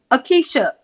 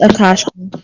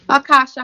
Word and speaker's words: Akasha: Akeisha. Wait, am I pronouncing that right? Acacia? It's Akasha. Akasha, how are you?